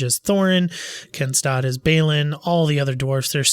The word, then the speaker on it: Balin: Balin is with 2 L's, and this is spelled with 1. So I'm just going with Balin.